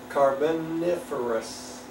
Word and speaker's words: Carboniferous: 200 million years ago, the really active stages of the how do you pronounce that? Carboniferous.